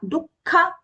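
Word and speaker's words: दुःख: Take care of that Mahapranas here. Sama, dukkha, not dukha, dukkha. Sukha, swasthas. The khas there are both are Mahapranas.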